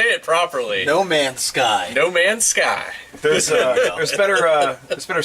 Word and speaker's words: No Man's Sky: No Mansky. I don't say it properly. No Man's Sky.